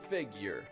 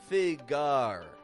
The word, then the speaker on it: figure: a Y year or it can be figure figure theable stress contrast strong weak figure if you pronounce figure figar figar something like like that then you're getting strong strong strong strong and we just got to control that by making it go weaker on the ending my friend it's going